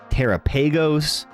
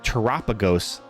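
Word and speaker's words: Terapagos: Terrapeagos. Um, but I think it's I think it's Teropagos cuz it kind of rhymes with uh Galopagos, like the Galopagos Islands.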